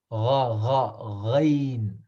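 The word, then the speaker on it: غين: So there is no word that describes, there is no letter that describes the Ghain pronunciation in English, but the place where it is pronounced is from, like, the, where the place where we gargle after we brush our teeth. Uh-huh. That's where the Ghain comes from.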